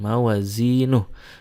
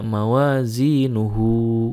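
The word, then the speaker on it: مَوَازِينُهُ: itu jadi mansilla Tetapi kalau diwakafkan maka dibacanya jadi sukun mawazinuh tidak mawazinuhu Hai ada beberapa pengecualian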